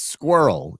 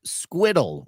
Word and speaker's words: squirrel: In America, it's squirrel. And England, it's pronounced squiddle.